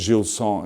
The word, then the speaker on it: Gilson: Gilson, as it's pronounced in French, which is a sad thing.